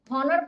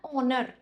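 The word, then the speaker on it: honour: हॉनर बोलते हैं। बिल्कुल भी नहीं। हॉनर नहीं होता है। ये होता है ऑनर। क्या होता है? ऑनर। ओ ओ ओ वाला। ऑनर। इसका कुछ ऐसा प्रोनाउंसिएशन होता है।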